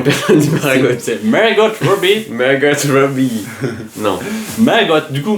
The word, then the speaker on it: Margot: dit Margot dis pas Margotte tu sûr dis pas Margotte en anglais dis pas Margotte si c'est prononce toutes les lettres en anglais person Marot Margot Robby Mergot Robby non Mergot du